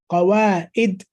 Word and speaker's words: قواعد: And قواعد with a ayn, not with hamza. Okay? Again, sound recognition and pronunciation. كتاب القواعد. عد عين, not قواعد. Listen to the difference. قواعد.